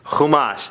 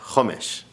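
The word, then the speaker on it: חומש: the most beautiful voice Hamas that comes from the root kamesh which means 5 these are the five books of the Torah Hamas or other otherwise pronounced hamish homra astringency in Jewish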